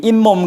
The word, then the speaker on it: 잇몸: 자, 그래서 사이시옷을 여기 잇몸 같은 경우에는 이하고 몸이 된 거예요. 이하고 몸이 됐는데, 이 몸이 됐는데 우리가 이 몸이라고 안 하고 잇몸이라고 발음을 하니까 갑자기 없는 니은 발음이 뭐가 된 거예요?